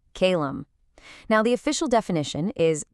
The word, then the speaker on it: Kaelum: This is Kalum. That's pronounced Kalum.